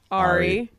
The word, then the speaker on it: ARRI: What is an well, people pronounce it differently. What is an airy kit and what is it used for? We're getting to the more technical portion of our An questions. airy kit. Well, how else can it be pronounced? Ari.